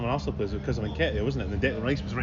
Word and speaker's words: Nketiah: How'd you say his name? Nketiah. I know. I thought it was Niketa as well.